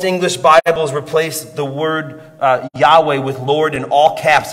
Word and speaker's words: Yahweh: el shaddai and then in hebrew it's spelled y h w h pronounced yahweh before this moment in